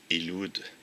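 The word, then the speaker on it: ילוד: La prononciation hébraïque de Ilud, O et U étant représentées par la même lettre hébraïque, je n'ai pas connaissance que quelqu'un ait déjà mentionné cette version.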